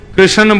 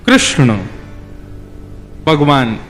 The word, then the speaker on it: कृष्ण: लाल की जय बंधुओ कई लोग इस नाम को अशुद्ध बोलते हैं कई लोग कृष्ण बोलते हैं कई लोग कृष्ण बोलते हैं कोई कृष्णा बोलता है भगवान का नाम शुद्ध उच्चारण करो नाम क्या है कृष्ण भगवान जय श्री कृष्ण